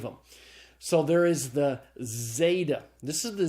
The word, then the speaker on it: zeta: a simple Z sound so Zeta is the Z sound pronounced like the Z in days the next letter is